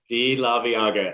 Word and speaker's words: Laveaga: Laveaga. I had to ask you to know how to pronounce it.